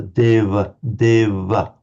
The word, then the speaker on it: deva: If we see a V. Um it's pronounced in certainly among the northern Indians um between vowels as something between a v and a is with the lips slightly together deva certainly that would be